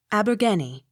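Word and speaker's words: Abergavenny: n n y pronounced abergenie av not sounded spelt a-r-b-u-t-h-n-o-t pronounced arbuthnot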